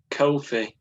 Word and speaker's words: Ko-fi: I've set up a similar thing called Ko-fi.